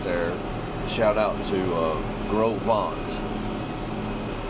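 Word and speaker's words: Gros Ventre: Shout out to uh Groveant River Ranch. It's spelled like gross venture.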